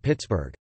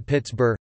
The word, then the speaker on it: Pittsburgh: As Forbes was a Scot, he probably pronounced the name Pittsburgh, similar to Edinburgh.